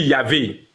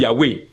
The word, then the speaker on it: Yahweh: Par exemple, nous on dit Yahvé. Il y a d'autres qui disent Yahweh. Dans l'hébreu ancien là.